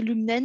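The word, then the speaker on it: Lum'en: Lumnen, je ne sais pas comment tu le prononces, Laurent. L'humaine, oui. Lumen, voilà.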